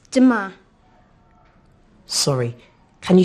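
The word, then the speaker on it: demain: do you say tomorrow in french um it's dima sorry can you say that again please yes it's duma how do you spell that d e m a i n great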